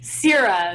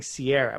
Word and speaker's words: Sierra: Sierra, like you're searing a steak. So I kept saying Sierra, which is not your A, name.